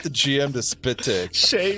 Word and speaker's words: Shez: gm to spit dick shay rhymes with grey it's too good it's